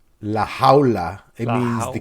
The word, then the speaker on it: La Jaula: So Bahamondes, Omar, how do you pronounce his nickname? La Huala? La Jaula.